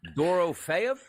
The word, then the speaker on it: Dorofeyev: Can we get one of you guys to try and pronounce that. Oh Pavel door. Dorofeyev Dorofeyev Pavel Dorofeyev.